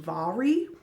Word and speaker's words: Mhairi: It says in the back that her first name is pronounced Mhairi.